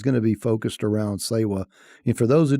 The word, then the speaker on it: SEWA: today's conversation is going to be focused around saywa and for those who are not familiar with with say well which you're probably not it's spelled as you can see on kavita screen s-e-w-a uh we pronounce it sewa and she can talk about